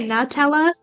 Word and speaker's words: Nutella: you say Nutella like nut I know but it's Nutella in my opinion it's it's a good song it's a good song it's so catchy oh I understand that tella I get it I just have always pronounced it New tower.